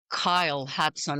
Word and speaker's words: Kyle Hudson: And I'm joined by the one and only Kyle Hatson. Am I pronouncing it good?